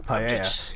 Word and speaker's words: paella: You can't call this paella, or correctly pronounced paella.